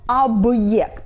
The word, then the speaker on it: объект: For example — объект . Б is before hard sign and it's hard.